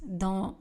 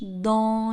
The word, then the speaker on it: dans: Je marche dans les bois. Le S dans le mot dans ne sera pas prononcé.